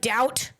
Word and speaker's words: doubt: And it's an alphabet that basically spells things the way they sound instead like doubt. D O U B T. There's like you don't pronounce the B.